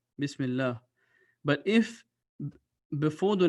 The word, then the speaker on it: bismillah: to which means that the name of Allah will be pronounced with a thin voice which will show a 24-ounce you will pronounce this bismillah bismillah but if before the